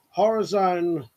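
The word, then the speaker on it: Horizone: But yeah, Horror Zone. It's spelled HORI/zone, Horror Zone, redback, £80 pistol crossbow.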